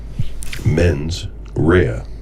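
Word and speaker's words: mens rea: Men's rehea.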